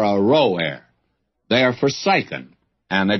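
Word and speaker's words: Aroer: back and give you another pronunciation of that the cities of r o a r Ro a are forsen and let's settle for a row a they are fory and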